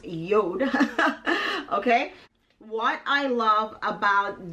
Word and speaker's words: Jord: Okay, so this watch company is spelled JORD, but it's actually pronounced JORD.